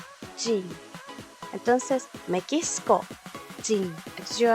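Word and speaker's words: 人: nacionalidad que nosotros tenemos va a cambiar su pronunciación ya no va a ser hito sino que va a ser jin entonces me quisco jin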